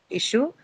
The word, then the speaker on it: issue: Issue, right? Issue as a verb or a noun is going to have its stress on the first syllable.